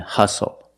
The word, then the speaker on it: hustle: seat belt very good we also see the silent T when you have the spelling pattern stle e like these words whistle castle and hustle the t is silent